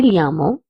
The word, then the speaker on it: llamo: As you can see, the third word has two L's. In this, two L's will be pronounced as lia or ya. If you're in Spain, you will pronounce as lia, and if you're in Latin America, you will pronounce it as ya.